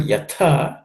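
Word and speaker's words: यथा: In the word yatha, the second letter tha is aspirated.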